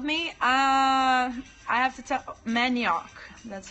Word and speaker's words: manioc: Manioc. That's how you say it. Manioc.